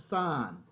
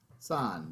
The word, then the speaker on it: sine: Now, this is pronounced sign. Okay. This is sign, not see.